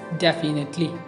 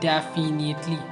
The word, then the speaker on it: definitely: Next word is it's definitely, not definitely. So it's definitely, not definitely. Yeah, definitely. It's actually definitely.